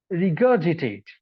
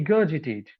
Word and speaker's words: regurgitate: two different sounds right so now with the help of the phonemic script I know this is the G sound not ghee this is G and then this is State see regurgitate right the regurgitate now if we try